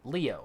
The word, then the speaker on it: Leo: gonna call him leo it's written with the kanji for lion to be sure but it's pronounced leo i wager you're impressed